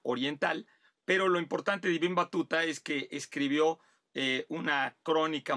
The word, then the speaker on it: Ibn Battuta: nos pide hablar de, a ver si lo pronuncio bien, Ibn Battuta, Ibn Battuta, Ibn Battuta. Bueno, pues yo no hablo tampoco el árabe, pero supongo que por ahí se ha de pronunciar.